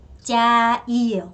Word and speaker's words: trai: 자, 그다음에 이거를 짜이예요. 그래서 짜이 원래 TR은 남부에서 저 발음이에요.